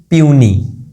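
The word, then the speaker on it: puny: Pure, ये रहा ये, इसको बोलते हैं प्यूनी। ठीक है जी, इसको पनी नहीं पढ़ना है यहाँ पे, हम इसको प्यूनी पढ़ रहे हैं।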